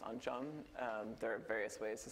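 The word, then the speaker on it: oncom: made it spelled on come but it's actually pronounced on John there are various ways to spell it and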